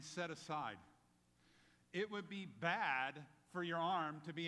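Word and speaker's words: בד: It occurs 201 times in the Hebrew, and the word for alone is pronounced bad. Bad.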